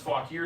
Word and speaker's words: Fauquier: sold the only other thing we've got is pronounced fog here sticker there or um that's tempting that's I